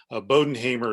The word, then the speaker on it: Bodenhamer: lot of us are bodenhamer is very simple sounds spells out a lot easier than it looks a bow like it's on a present then what you may